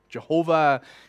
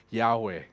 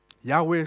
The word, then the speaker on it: Yahweh: of what is used to call it jehovah jehovah is a way of you're trying to pronounce the word with adding the word of